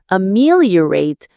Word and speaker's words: ameliorate: Practicing solitude can even help to ameliorate feelings of anxiety and stress. Let's break that word down again. Ameliorate. The stress is on the second syllable.